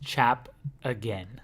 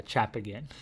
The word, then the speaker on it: Chapgin: It's Chap again. Chapgin. Yeah, Chap again. So when I'm saying it very fast, I say Chapgin. So it's Chapgin. Chap again, yeah.